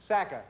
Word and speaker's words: Sacca: nice to see it and am i pronouncing the last name correctly Sacca Sacca that's right now tell me a little bit